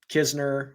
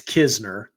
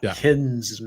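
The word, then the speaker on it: Knizner: But um yeah uh I would say that Kizner, which is how you pronounce it, by the way. It you pronounce the K but not the N.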